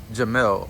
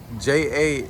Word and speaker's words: Jamelle: Jamelle. Jamelle. Okay, and is it Jamal? No, How do you spell it? Jamelle. Jamele. Two L's. So Jamme. ELLE. E Two E's, two E. L's.